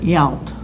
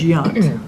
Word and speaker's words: Yount: baseball player who retired, only they pronounced it Yount. Robin Yount. What's his, Robin Yount. Yount. We knew it as Yunt.